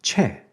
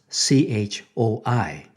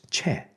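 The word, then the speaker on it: 최: name was romanized as CH o I now how would you pronounce his name Choi right nobody would pronounce it with the actual Korean sound which is chair under the current official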